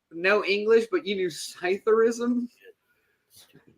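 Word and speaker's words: psithurism: how do you say it it's still there cytheris cytheris correct that is silent PE that is the official name for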